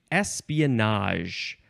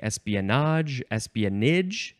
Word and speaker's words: espionage: The next word is espionage. You can say espionage. Canadians like to say espionage. Let's see, espionage. Espionage. Some people like to pronounce it that way.